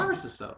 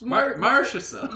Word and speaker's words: Marchessault: It's not like he's Marchessault. it's Marchessault. yeah. And then he said it one way, so Stop. then he turned around and calls it Marchessault.